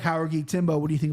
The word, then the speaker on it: Jauregui: It starts with an H. Jauregui.